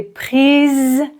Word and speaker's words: prises: Et ici la prononciation. Les photos que j'ai prises sont flou. Tu dois dire prise.